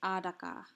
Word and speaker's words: ataqa: ataka, but they're pronounced adaka, or majak, or nabak. So in this word adaka, it looks like it should be a D rather than a T because we're voicing that T.